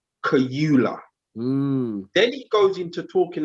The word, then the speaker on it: Kaluuya: Firstly, when he's talking about Daniel, he's saying this British actor, Daniel Kaluuya. That's the first thing. So he's not even pronouncing Daniel's name correctly. So he's saying Daniel Kaluuya.